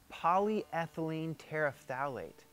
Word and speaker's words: polyethylene terephthalate: of polymer that's not an easy word to pronounce. Polyethylene? Polyethylene Tetraethylene tetraphthalate. Phthalate? Polyethylene terephthalate.